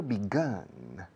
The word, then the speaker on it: begun: Y el participio begun. Begun. All right. Que seas arma de fuego. Gun es un arma de fuego, ¿no? Gun, G-U-N. Y así suena la segunda sílaba de empezado, comenzado.